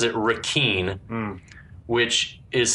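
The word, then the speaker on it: Requin: from the captain that ponytail name is he pronounces it Ren which is spelled re quu i n which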